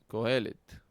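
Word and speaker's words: קֹהֶלֶת: Co está acentuado.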